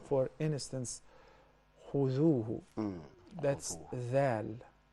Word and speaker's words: خذوه: Like for instance, خذوه. That's ذال. خذوه. So there are three letters where you gotta stick the tip of your tongue out, which is the tha.